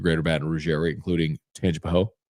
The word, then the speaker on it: Tangipahoa: Baton Rouge area, including Tangipahoa. Gotta say it really fast so you don't know if you're saying Tangipahoa or Tangipahoa. Because the people from Tangipahoa Parish, if you pronounce the A, they get upset.